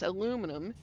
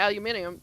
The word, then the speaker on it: aluminium: Like the aluminium when you look at the word that we pronounce aluminum and you look at it and you pronounce the aluminium it's like okay I I see this.